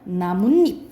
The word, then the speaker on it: 나뭇잎: 어 그리고 이거 읽어볼까 나무플러스 잎을 우리가 어떻게 말하 하나요 자 자연스럽게 하면 나뭇잎 되지 입 이렇게 되죠 그죠 그러면은 여기서는 니은 니은이 첨가된 거야 이걸 나타내기 위해서 또